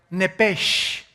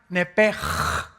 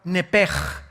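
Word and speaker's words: נפש: La palabra, la letra o las letras sh en del hebreo se pronuncian en hebreo como J. Entonces se pronuncia nepj.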